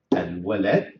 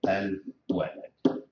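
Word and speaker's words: الولد: Al walad, as you see here, I have to pronounce it also Al walad.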